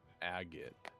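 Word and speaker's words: agate: what an aot like a g a t e is how you say it agot I don't think i'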